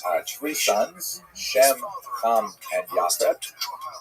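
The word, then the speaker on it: Japheth: Uh he has uh three sons, Shem, and Yaf. And I should pronounce that by the way in the Ash pronunciation. Yas.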